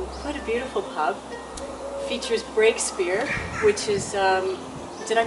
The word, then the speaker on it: Breakspear: quite a beautiful pub features breakspear which is um did i pronounce that correctly you did which is um